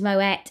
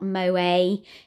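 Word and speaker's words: Moët: got moet and the is moet not mo a it's pronounced with the t's from Dutch heritage and all your champagne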